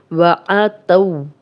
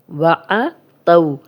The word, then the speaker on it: وَعَتَوْ: ہم شروع کرتے ہیں وَعَتَوْ۔ وَعَتَوْ، یہ واو لین ہے، جزم والی واو پیچھے تا